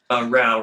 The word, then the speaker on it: Rouch: Rao rhymes with cow.